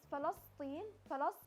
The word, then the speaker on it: فلسطين: We are going to see how do you pronounce Palestine and Gaza in Palestinian dialect. Palestine. Palestine. Palestine is فلسطين.